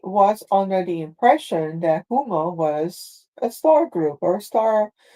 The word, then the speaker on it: Ummo: But if they hear them say it, it's like Umbo.